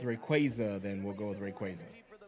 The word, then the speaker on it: Rayquaza: They made the official pronunciation of of these Pokemon, and it is Ray Quaza, which I hate. I prefer Rayquaza. It makes more sense.